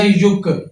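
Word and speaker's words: 육: छह में इम की आवाज यहां पे साइलेंट है। यू वाला वोवेल लगा है। या पेश व यु यु वाला। नीचे ग का की आवाज आएगा। ये बन जाएगा युक। यानी छह को हम युक कहते हैं।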